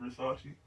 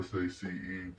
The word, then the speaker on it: Versace: I've heard of Versace, but I didn't realize the SACE part of it was Sachi. I was thinking it was Sace.